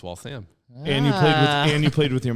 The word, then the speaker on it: Waltham: If I just, how do you pronounce Waltham? See, then I screwed it up. It's Waltham.